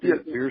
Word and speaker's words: Pierre: Pierre, South Dakota, just like a boat dock, a pier. It's a pier. Okay. Yeah. I started calling Pierre, and the guy said, "No, it's Pierre."